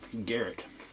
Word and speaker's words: Garrett: carrot oh that's crunchy also rhymes with my name garrett i love carrots i